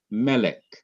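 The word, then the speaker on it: מֶלֶךְ: is the second syllable notice also that ordinarily the last syllable would be accented but it is not accented in melik the syllable that is accented in melik is not the last syllable but it is the syllable immediately before the last syllable that syllable is me me melik not M but mik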